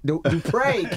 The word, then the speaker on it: Dupré: You got to put the accent on the E. Dupré Kelly.